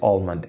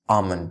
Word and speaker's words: almond: it's not pronounced as almond it's pronounced as almond the L is silent I've never eaten this